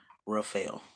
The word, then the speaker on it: Rafael: His name is pronounced Dr. Rafael.